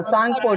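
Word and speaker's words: Tsangpo: तो हाँ, सांगपो. T silent होगा.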